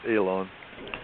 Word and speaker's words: Alan: During the flight and subsequent meetings, he asserted he talked with a pilot named Alan, pronounced Elon, who gave Fry information on physics, the prehistory of Earth, including Atlantis and Lemuria, and the foundations of civilization.